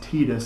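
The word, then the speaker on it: Tidus: game titus the main character and yes it's pronounced titus i saw in an interview before the game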